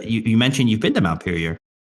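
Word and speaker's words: Montpellier: mentioned you've been to Mount Pir. I have. Yes. Uh when I when uh and it's and it's pronounced Mount Pilier in France. Don't pronounce that final bit.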